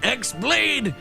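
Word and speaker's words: χ-blade: yeah it means the x blade it's just pronounced like keyblade even though it's just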